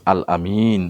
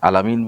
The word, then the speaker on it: আল আমিন: তিনি ছোটবেলায় সত্যবাদী ছিলেন, আমানতদারী ছিলেন, এই জন্য আল আমিন বলা হতো। এখন আল আমিনকে অনেকে আলামিন বলে, তাতে কোনো সমস্যা নাই, কিন্তু আলামিন অর্থে ব্যবহার করা যাবে না।